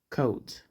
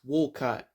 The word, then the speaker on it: Wolcott: Coats. Wait, it's pronounced Wolcott.